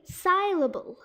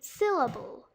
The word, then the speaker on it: syllable: Here the only thing wrong is the Y, which is actually mispronounced. They say syllable. But this time, English kind of chose simplification over complication. It should be syllable.